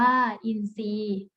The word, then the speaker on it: อินทรีย์: แทรก อ่าน ว่า แทรก อินทรีย์ อ่าน ว่า อินทรีย์ ทรุด โทรม อ่าน ว่า